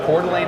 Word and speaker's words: Coeur d'Alene: in Coeur d'Alene Idaho don't get me to spell that for you but that's that's how you pronounce it phonetically Coeur d'Alene Idaho where we're doing